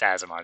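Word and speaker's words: Aasimar: Asimar? Yes, Azamar. That's how you pronounce it.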